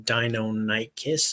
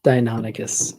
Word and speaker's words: Deinonychus: Although his is like dino as in dinosaur, and yours is dino as in Deinonychus, I think it is. Is that right? Deinonychus, yeah. Deinonychus.